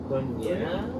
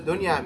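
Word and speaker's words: دنيا: Dunya. Dunya is an Ism Tabdeel. Is it? Yes, it is. Dunya. What does that mean? Talk about the dunya, right? Yeah. It rhymes with Fu'la.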